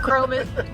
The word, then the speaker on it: Krome: Yeah, and Chrome is spelled Krome.